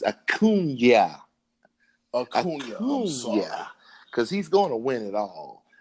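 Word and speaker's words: Acuña: But I'm gonna need you to pronounce my man's name right. It's Acuna.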